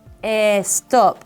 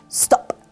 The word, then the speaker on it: stop: consonant as you know we don't say a stop or a Spanish it's stop and Spanish excellent let's translate r